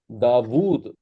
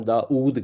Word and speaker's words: داود: جلیل القدر پیغمبر ہیں، ہم اسے اردو میں داود نہیں کہتے، ہم داؤد کہتے ہیں. ہم چینج کر دیتے ہیں کیونکہ ہمارے لہجے میں داود نہیں بیٹھتا.